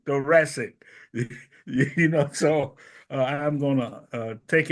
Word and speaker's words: thoracic: Anthony Holden, who is, I'm going to let him, all I know is that the correct pronunciation of the THO word is thoracic.